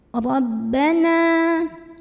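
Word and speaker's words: رَبَّنَا: Rabbana, ra-nya ini kita bunyikan secara tafkhim karena ra berbaris dan kita lihat barisnya itu di atas. Ya. Jadi kalau misalkan ra-nya barisnya di atas, bacanya tebal. Pangkal lidah kita dinaikkan, diangkat.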